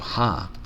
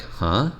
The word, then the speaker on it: ha: So, ha, this is such a great Icelandic word. Uh, ha. And it and you don't say it like huh, like we do.